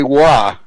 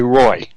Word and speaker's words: Roy: that's what that's what that's how I know that Olivier wah is not Olivier Roy but anyway that's a